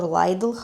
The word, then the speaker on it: Lidl: And apparently they have little also here or Lidle, how they pronounce it here.